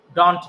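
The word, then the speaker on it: don't: বাট ডোন্ট কে আবার ডন্ট না, এটাকে বলতে হবে ডোন্ট, ডোন্ট।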